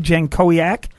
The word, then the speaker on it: Jankowiak: Chemung was Jimmy Zacharias, and Mallett, here's how you pronounce it. It's Andy Jankowiak.